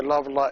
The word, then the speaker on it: lada: The Chi is pronounced sh, the sh sound, and the Lada is the l sound.